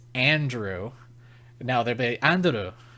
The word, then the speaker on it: Andrew: I'm rambling but like if a Japanese person pronounced my name it'd be andu you know like they'd say it that way because that's how they they enunciate but then I'd be like no it's Andrew now they're be Andrew